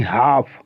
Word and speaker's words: half: अब जैसे लिखते हैं आप HALF, क्या पढ़ते हैं, हाल्फ नहीं हाफ, CALF, कॉल्फ नहीं कॉफ।